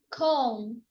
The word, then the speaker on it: calm: So the letter L is silent in half and calm.